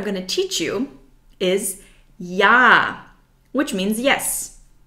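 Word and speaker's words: ja: to teach you is yah which means yes yah the German J is pronounced like the English y yah yah very easy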